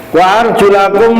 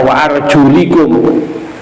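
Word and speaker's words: وَأَرْجُلَكُمْ: Wa arjulakum lan basuh ing pira-pira sikile sira kabeh. Nah, ini atofnya ke fagsilu wujuhakum. Makanya wa arjulakum, bacanya tidak wa arjulikum. Ada qiraah yang bacanya wa arjulikum, berarti ini nanti lil mujawarah namanya, istilahnya i'rabnya ini.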